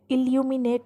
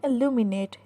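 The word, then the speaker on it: illuminate: जैसे मैंने पहले भी कहा कि ये लफ्ज़ है इल्यूमिनेट. इल्यूमिनेट नहीं है, इसको हम प्रोनाउंस करेंगे इल्यूमिनेट.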